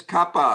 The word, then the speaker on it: kappa: Is it kappa or kappa? It is kappa. Kappa. Kappa, Ah, kappa. not he. Kappa. Simple kappa. Kappa. Ka. Kappa. Okay, kappa. Please don't do any Kapni yaar hota. American pronunciation. Like I am American, but I try to. So don't say as in McDonald's or Big Mac. That is American.